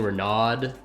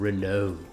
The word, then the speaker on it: Renault: mad at me for saying renaud instead of renault yes put that uh accent on it i get it though